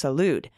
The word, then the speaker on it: Salud: note that rep carbajal my rep's first name is pronounced Salud thank you again for